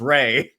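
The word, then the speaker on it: Rhea: buddy Jonathan Bay that we've been saying Ria Seahhorn's names wrong. Ria Seahhorn's name wrong. It's Ray.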